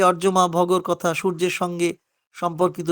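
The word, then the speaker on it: অর্যমা: তো তাকে আমরা ওটা বহুবচনের রূপ একবচনে তো অর্জমা অর্জমা আমরা উচ্চারণ করি ব্যক্তি হিসেবে নাম ধরে একবচনে অর্জমা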